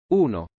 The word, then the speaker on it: Uno: Yeah, but Uno is how you pronounce the name of the synth because it's an Italian synthesizer, so the name is in Italian. Uno.